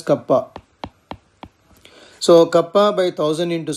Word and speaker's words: kappa: Here K is called kappa, that is pronounced as kappa.